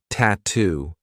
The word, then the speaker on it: tattoo: Another word that I love for practicing the true T is tattoo. We have two true T sounds, TT and then to.